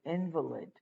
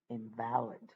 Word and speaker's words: invalid: Imagine you say invalid, okay, which means you're incapacitated, as opposed to saying invalid.